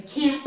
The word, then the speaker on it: can't: This has a letter T, but we don't really pronounce it.